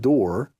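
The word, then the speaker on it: דּוּר: It's the Hebrew word dor, D-O-O-R is how we would pronounce it in English.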